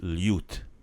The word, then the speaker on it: ljut: So we have ljut. That's the LJ sound, the same word as in ljubav. Same pronunciation.